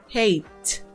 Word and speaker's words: hate: vamos con otro ejemplo miren este verbo este verbo terminan e pero su sonido en la forma base no tiene esa e hate hate Entonces como en el sonido la e no suena sino que termina en la t hate hace parte de